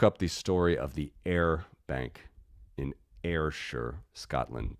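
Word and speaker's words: Ayr: Uh, look up the story of the air bank inure Scotland. That is spelled A Y R air.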